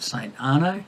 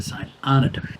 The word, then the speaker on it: St Arnaud: UD all my French tells me I would pronounce that St ano locals tell me you pronounce it the St Anna I said it is fueled up in Hay